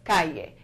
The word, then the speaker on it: calle: may be inclined to think that this says Calais but actually in Spanish it's pronounced calle the area is right there and kya mean